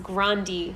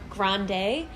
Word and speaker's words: Grande: Apparently her last name is pronounced Grande, not Grande.